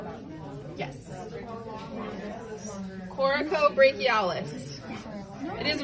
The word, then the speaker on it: coracobrachialis: Coracobrachialis. It is right next to the bone. I call it your cocoa muscle. It sounds like this.